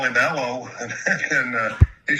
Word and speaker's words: Elois: The actual pronunc pronunciation of it is L like Eloise.